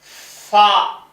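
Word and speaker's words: فاء: ஃபா இது ஃபா ஆயிடுச்சா? இந்த எழுத்து வந்து இங்கிலீஷ்ல ஒரு எஃப் மாதிரி. எஃப் வாசிப்போம் பாதர். அதுக்கெல்லாம் அந்த ஃபா போட்டு எழுதலாம்.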